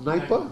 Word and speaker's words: Dnieper: अच्छा, ये द्नाइपर रिवर है, नाइपर, is pronounce नाइपर, नाइपर, D silent, so is pronounce you know like this.